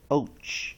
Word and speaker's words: poach: 尾音 CH nucleus and conduct equals rhymes 什么 Poach O-A-C-H 组合呢 C-V-V-C-C consonant vowel consonant 子母子，所以我们可以看到它的最主要的母音的地方是 O-A，